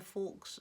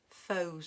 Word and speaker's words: faux: beautiful images using the forks stamping technique or I think it's faux stamping but the way it's spelled makes you want to say fork stamping anyway hope you've learned